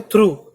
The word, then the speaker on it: through: जैसे थ्रू, THROUGH थ्रू, तो GH की साउंड ही नहीं है, थ्रू, हा साउंड हो जाती है थ्रू, एक हल्की सी हा।